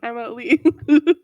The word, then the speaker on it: Emma Lee: my other friend who her name rhymes with emily that's literally my name emma lee i'm sorry to